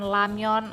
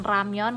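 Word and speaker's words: 라면: teman-teman Kenapa kalian Eh mendengar ada yang melafalkan lamion ada yang melafalkan ramion karena ini kosakata serapan jadi ya sah saja mau dilafalin l atau R cuma kalau kosakata asli itu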